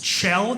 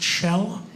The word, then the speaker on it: Kjell: It's Kjell. It's Norwegian. Spelled Kjell, pronounced Kjell.